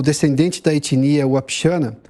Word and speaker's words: Wapixana: O Biratã, só por gentileza, eu pronunciei corretamente o nome da sua etnia, é Wapixana ou Wapixana? Wapixana. Wapixana. A primeira pronúncia.